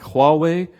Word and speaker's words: Huawei: you know the company from WeChat companies like Huawei and that's how you pronounce it companies like Alibaba basically these companies